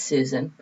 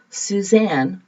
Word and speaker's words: Susan: well my name is susan i may say susan s-u-s-a-n some people hear my name as suzanne which is spelled differently so i know i'm